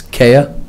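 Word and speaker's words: Caya: It's Kaya, it's spelled C-A-Y-A.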